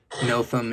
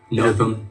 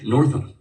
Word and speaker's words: Nothum: Yeah, the most common is the R. Yeah. Putting the R in it. They put the R in there. Northum.